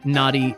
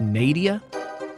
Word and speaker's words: Nadia: I like how Don pronounces Nadia as Naughty. Yeah, Natia. Uh, how else would I say it? Nadia. Nadia. Nadia just falls over like Peter Griffin.